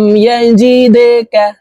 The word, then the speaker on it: يجدك: ইউ'তিকা রাব্বুকা ফাতারদা আলাম ইয়াজিদকা। প্রিয় দর্শক, এই দাল কলকলার হরফ নিচের দিকে ধাবিত করে ধাক্কা দিয়ে উচ্চারণ করব।